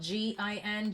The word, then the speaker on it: jinn: So someone may drink gin, even though I know it's spelled G-I-N, J-I-N, it's still pronounced gin.